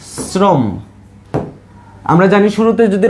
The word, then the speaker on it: শ্রম: তালব্যস তাইলে সেই জায়গায় যদি তালব্যস তাইলে দেখো শ্রম শ্রম শব্দটাতে কি দন্তস্বর উচ্চারণটা কিরকম হচ্ছে ছ এর মতো না শ্রম